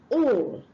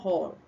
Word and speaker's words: all: And the next one is all and not hall.